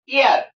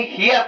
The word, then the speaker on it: heir: ईयर HEIR, अक्सर लोग इसे हियर पढ़ते हैं, हियर नहीं, ये ईयर है, एच साइलेंट रहता है, तो इसका फीमेल है एयरस।